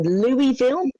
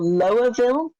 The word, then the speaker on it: Louisville: so here's the thing I am either in Louisville or Lowville or lville or there's a big poster with all the different pronunciations so I feel a